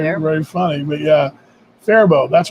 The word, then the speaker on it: Faribault: Kevin says it's Faribault is a pronunciation.